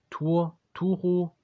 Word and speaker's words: Turturro: John Turturro. Nee, Turturro. So wie er ausgesprochen wird.